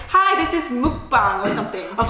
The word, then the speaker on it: mukbang: said hi this is mukbang or something I was like welcome to my mukabang mukabang oh my God I was like Nick she's like no that is not how you say it yeah so I